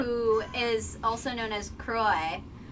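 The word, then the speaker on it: Kuroe: Who is also known as Kuroi. How do you pronounce that? Kuroi.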